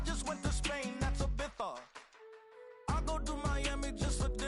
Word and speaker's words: Ibiza: I just went to Spain, that's Ibiza. Ibiza. Yeah, it's pronounced Ibiza, actually.